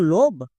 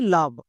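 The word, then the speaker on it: love: আজকের ক্লাসে আমরা আলোচনা করব এল ওভিই এর উচ্চারণ লোভ নাকি লাভ? কোনটা? কারণ আমরা জানি ভাওয়েল দেখলে রুল চেক করতে হই। এখানে ও ভিসিবি রুলে আছে। তাহলে লোভ হওয়ার কথা। বাট এর উচ্চারণ লাভ হচ্ছে।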